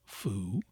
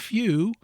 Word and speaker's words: few: New, pronounced as new, is an example, and few, as in foo, and the true sounds are new and few, the U retaining its proper soft sound and not that of oo.